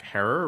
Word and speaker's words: Herer: the late great Jack Herer rhymes with Terror and also a more